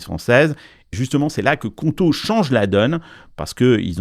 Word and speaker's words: Qonto: Il y a déjà 600 000 entrepreneurs qui utilisent Conto.